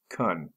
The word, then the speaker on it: can: fix it later again the word can can be pronounced cun to possibility practice pretend